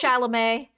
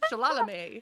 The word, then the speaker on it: Chalamet: Chalamet. Oh, Shalalalame, Shalalalame, as I call him, Shalalame. I will Shalalalame. always mispronounce his name on purpose because it's fun.